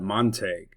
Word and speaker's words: Montague: previous video we had on Monte County saying that it was illiterate to call it Monte, but there are other English words such as vague, intrigue, and league, which have similar sounds. We don't pronounce those words, vagu, intrigu, and liu.